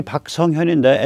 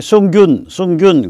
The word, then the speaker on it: 박성현: 제 이름이 박성현인데 SUNGHIUN인데 이거를 이제 미국 사람들이 읽으면 갑자기 숭균 그러고 읽어요.